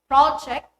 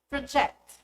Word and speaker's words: project: The noun is stressed on the first syllable. The verb is on the second. For examples, project, project, produce, produce, record, record.